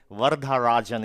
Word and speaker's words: Vardharajan: I will call it Aditya V. Or Aditya Vardharajan is the right pronunciation.